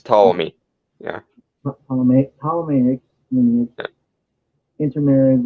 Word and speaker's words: Ptolemy: The Ptolemy, P is silent. right? Like her, It's Ptolemy.